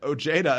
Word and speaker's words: Ojeda: the side, military vet Ojeda announces 2020 run. Normally it's pronounced Ojeda, but in West Virginia it's Ojeda.